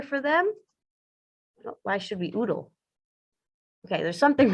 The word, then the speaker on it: UDL: for learning are um what's oodle rhymes with noodle that that seems odd